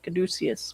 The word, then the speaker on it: caduceus: he is cadecius cadiz caduceus caduceus we pronounce it this is the card